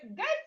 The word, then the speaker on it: gate: Okay, gate here. Looking at this, you are seeing gate, This E here is silent.